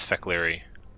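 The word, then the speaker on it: Fek'lhri: The Fakiri share many characteristics. Oh, he actually does pronounce Fekleri.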